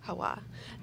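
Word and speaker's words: Jaua: Hawa.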